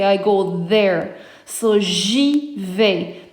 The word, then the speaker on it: j'y vais: So j'y vais. Now the reason why we made a J apostrophe is because the I, the pronoun I, is treated like a vowel.